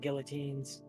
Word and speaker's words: guillotine: We need to bring back guillotines. I believe you'll find it's pronounced guillotine.